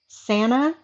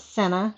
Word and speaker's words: Sansa: Sansa, not Senna.